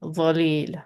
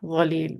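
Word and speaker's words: ظليل: like for this, but the back of our tongue is raised, and we get the heavy dhalil, dhalil, which means shady.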